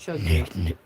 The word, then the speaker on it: Chug Jug: You keep on saying it wrong, bro. It's chug jug.